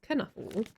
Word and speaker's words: Knuffle: Yeah, I call them Knufflebot, but apparently it's pronounced Knuffle.